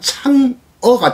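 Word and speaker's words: 嫦娥: 이거는 중국 달의 여신 상하, 한자로 읽으면 상하고 중국말로 발음하면 창어가 되겠습니다. 이 상하의 달의 여신 상하의 모습을 이미지했는데 이건 19세기 일본의 목판화인 우키요에로 표현되어 있습니다.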